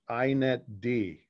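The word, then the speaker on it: inetd: with a service because the letter D is always on the end and it's pronounced separately. It's stated apart from the root word. So telnet D is how you would pronounce that, inet D, right?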